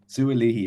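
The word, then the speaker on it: Sua'ali'i: Sualihi, yeah.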